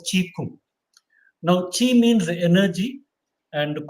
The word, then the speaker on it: Qigong: Qi Kung, which is written as Qigong, Qigong. That's how written in English, but pronounced as Qi Kung.